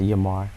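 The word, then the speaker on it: Yemar: It is pronounced Yamar, Y-E-M-A-R.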